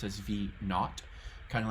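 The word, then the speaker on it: v₀: the initial height so that's v0 which we pronounce as V not kind of like how um some British people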